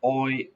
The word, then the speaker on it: Euler: have e number e euler's number remember is pronounced euler don't say angular it's oil euler euler so we have e raised to